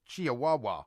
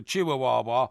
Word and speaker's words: Chihuahua: Well, it's your pronunciation presumably of of plank as as your pronunciation of chiahawa. No, no, no, no, no. Chihuahua is a little dog.